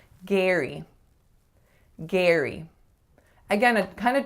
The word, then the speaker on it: Gary: So like Gary or something like that, because phonetically that's what it looks like. But this name most commonly will be pronounced as Gary. Gary.